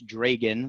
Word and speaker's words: Dragan: in the United States, Dragan, like Reagan, but with a D, is definitely a much easier word to pronounce.